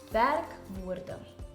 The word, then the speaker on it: werkwoorde: Werkwoorde. Once broken up, it is pronounced werkwoorde.